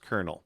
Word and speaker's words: colonel: by a colonel which it's pronounced kernel but it's not there's no r in that word which is kind of strange it's spelled c-o-l-o-n-e-l but it's pronounced kernel i don't know why